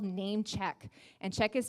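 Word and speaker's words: Namechk: all your platforms is a free tool called Name Check. And check is spelled C-H-K.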